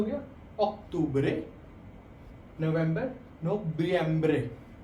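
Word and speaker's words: noviembre: नवंबर नोबियम्बरे. इसमें हमेशा बी की थोड़ी साउंड आती है.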